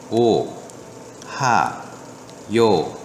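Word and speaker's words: おはよう: 오, 하, 요, 우 이렇게 읽는 게 아니라 오하요 이렇게 오하요 이런 식으로 읽어야지 되는 건데요.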